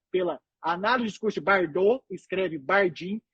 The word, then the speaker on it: Bardin: A principal técnica, como o doutor Tiago pesquisa na hora tudo que eu falo, chama análise do discurso de Bardot, que se escreve Bardin.